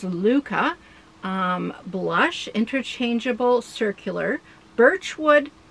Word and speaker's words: Lykke: is the blush luca i learned that that's apparently how you pronounce what i've been saying lika but it's luca um blush interchangeable circular